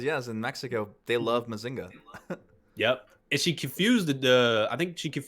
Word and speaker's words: Mazinger: is how you say i don't like how i pronounce mazinga in english because it sounds ill i like it more in spanish they say massinger and it's like damn yeah it sounds so much better like messenger and whenever my mom when